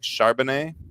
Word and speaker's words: Charbonnet: Zach Charbonnet. That's it. Look at that. Kind of sounds like what's his name? Charlemagne, whatever that kid is. I don't know. Charbonnet.